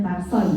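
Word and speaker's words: θάρσει: Tadi udah katanya tarsoi bacanya.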